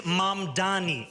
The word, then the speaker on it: Mamdani: And furthermore, the name is Mamdani, Mamdani.